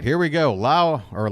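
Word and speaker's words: Lowe: right here we go la or low at the plate I went ahead and got it wrong myself Brandon L I did it again Josh low not Brandon Lao Josh low fouls one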